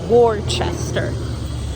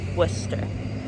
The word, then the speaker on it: Worcester: today we're going to um Worcester which is a ridiculous city name because it looks like Worchester but apparently it's pronounced Worcester um but we're in a total Adventure outfit